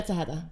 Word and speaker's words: Tejeda: And we have a special guest on our show, Tejeda. Is that how you pronounce your last name? That's exactly how you pronounce my last name. Tejeda, yeah.